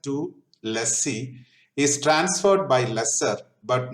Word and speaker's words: lessor: Lessor owns the asset. Lessor rhymes with owner.